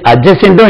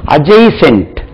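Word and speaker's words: adjacent: இன் டி அட்ஜசென்ட் ஹவுஸா இதுவும் அஜய்சென்ட் அட்ஜசென்ட்டும் இல்லை இதுல அஜய்சென்ட் பக்கத்தில் அவர் ஹவுஸ் இஸ்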